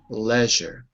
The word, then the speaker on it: leisure: the first column right a British English leisure in American English Leisure so in American English it wouldn't fit those boxes but in British English it would Leisure Leisure First Column